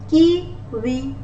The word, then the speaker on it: kiwi: W is sounds like W-A. Wa. Kiwi. Wa. Kiwi. Look at my mouth. I'm not My upper teeth are not touching my lower lip. Rather, I'm making the sound of O more.